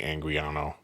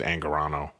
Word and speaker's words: Angarano: I never say his name right. Is it Angarano? I always say Angriano, but I think it's Angarano.